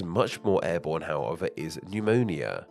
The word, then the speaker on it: pneumonia: more Airborne however is pneumonia pneumonia is a severe chest infection which can cause coughing and a fever while this word might seem incredibly odd to us with that silent P at the start it actually simply comes